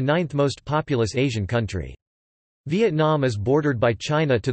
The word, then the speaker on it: Việt Nam: Vietnam, UK, US, listen, Vietnamese, Vietnam pronounced Viet Nam, listen, officially the Socialist Republic